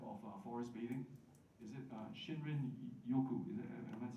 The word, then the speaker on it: Shinrin-yoku: Is it Shinrin-yoku? Am I saying it correctly? Shinrin-yoku?